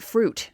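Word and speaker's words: Froot: People don't realize that Fruit Loops is spelled with 2 O's and not fruit. It's not Fruit. It's fruit, like root.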